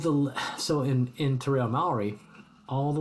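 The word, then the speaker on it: Māori: So many English speakers say Maori, but it's Maori. The A and the O. A-O combined. A-O. So Maori.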